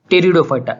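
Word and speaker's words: Pteridophyta: Division 1 थैलोफाइटा, division 2 ब्रायोफाइटा और division 3 टेरिडोफाइटा। इसकी spelling जो है वो पी से शुरू होती है लेकिन उसका जो प्रोनाउंसिएशन है वो टी से है, टेरिडोफाइटा।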